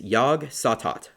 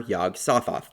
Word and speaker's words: Yog-Sothoth: thinking about Cassell is yogge saw thought or yog-sothoth depending on how you want to pronounce it I use the